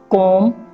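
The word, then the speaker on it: comb: के बाद होता है तो एम के बाद भी साइलेंट होता है आप इस पर में देख रहे हैं कॉम धम धम अक्सर लोग कौम को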